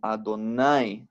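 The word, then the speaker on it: אֲדֹנָי: La Aleph se aquieta, ¿ok? Porque se supone que estamos pronunciando esto como Adonai, ¿no? El Kere, Adonai.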